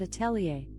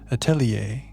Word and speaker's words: atelier: I pronounce that Attelier, but I'm always working on how I say things and I might not have it right. You're great, Alexa. Attelier.